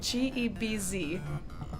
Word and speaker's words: Gebz: Gebz is spelled G-E-B-Z.